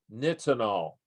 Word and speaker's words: nitinol: it up one line it's spelled ni TI n-o-l knits and all and the ni stands for nickel that was the one